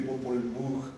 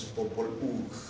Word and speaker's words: Popol Vuh: Se escribe Popol Vuh con V, pero según los especialistas, la H siempre suena J en maya, como en inglés o en lenguas germánicas, y la V suena como U también.